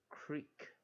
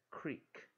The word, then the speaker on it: crick: 啊，所以我们就念 creek creek creek 这样子的念法，creek creek creek。